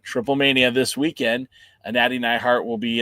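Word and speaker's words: Triplemanía: AAA Mania. Triple Mania in case you're wondering. Well, isn't it like there are AAA in there? Isn't it AAA Mania? No, it's Triple Mania.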